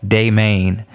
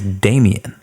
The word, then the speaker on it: Daemaine: My Instagram handle is @Daemaine, DAEMAINE, like Daemaine. That is really my name. That is really how you spell it, and it's not pronounced Daemaine. It is Damien.